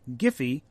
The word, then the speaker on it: GIF: interface format it said with a soft G like the peanut butter not a hard G that's according to creator